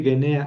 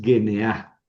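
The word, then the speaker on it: γενεά: Y aquí leiste gena. Es genea. Genea. Sí, porque no es diptongo. El diptongo se se forma con una bucal fuerte, a e o y una débil y u. Pero aquí las dos son fuertes, entonces no hay diptongo. Es g n a. Primera sílaba G. Segunda sílaba ne. Tercera sílaba a genea poretai.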